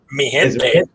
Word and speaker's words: Mi gente: Mi gente. Mi gente.